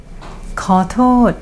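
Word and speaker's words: ขอโทษ: KǑR-TÔD means sorry. KǑR is pronounced with rising tone. TÔD is pronounced with falling tone.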